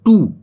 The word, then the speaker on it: two: Answer means होता है उत्तर देना, जैसे कि TWO, यानी कि TO की आवाज आएगी टू, ना कि डब्लू।